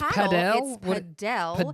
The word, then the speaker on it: padel: Um and it's pronounc it's not it's padell which I was completely wrong about until I heard it pronounced.